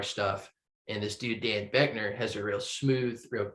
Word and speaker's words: Boeckner: It's Britt Daniel of Spoon, the lead singer and guitarist, and Dan Beckner. I think that's how you say his name, spelled really weird. Boeckner. We'll go with sounds right. Beckner.